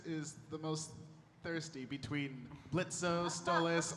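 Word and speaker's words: Blitzø: Uh, I was wondering which of the characters is the most thirsty between Blitzo Stalis. The O is silent and you knew that.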